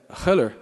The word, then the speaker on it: Heller: Nós temos aqui o André Haller, né, que é a pronúncia correta, eu aprendi isso, mas eu não falo isso. Eu só fiz uma graça, na verdade, Jordani, mas eu continuo falando Heller.